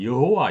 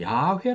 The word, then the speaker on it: 야훼: 하나님의 이름은 어 2억 우리가 알고 있기는 여호와 입니다 그러나 어이 영어 라고 하는 발음 급이 이 틀린 것은 아닌데 더 정확한 발음은 원래 발음은 야훼 라는 거죠 그래서 오늘날